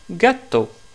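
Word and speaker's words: gatto: un chat en italien on le prononce gâteau gâteau et le femina de ce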